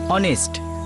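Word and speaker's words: honest: ইউ R right, অনেস্ট এইচ দিয়ে শুরু হয়, কিন্তু ফোনেটিক্সের উচ্চারণ মানে প্রোনান্সিয়েশন ও দিয়ে হয়, অনেস্ট।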